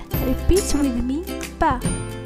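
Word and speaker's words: ب: Repeat with me, ba. The letter ba is pronounced like the English b in boy.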